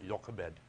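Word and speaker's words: Jochebed: it's quite interesting okay jakka bed or yoga bed as it's correctly pronounced that's mama if you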